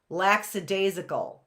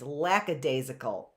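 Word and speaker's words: lackadaisical: Like laxidasical. It's not laxidasical. It's not lax even though it is lax. You call it lax. It's not laxid. It's lacadasical.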